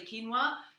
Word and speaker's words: quinoa: such as quinoa or often mispronounces quinoa but it's actually quinoa another good form of